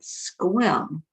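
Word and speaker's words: Sequim: pronounced like Squim. Okay, Squim, Washington.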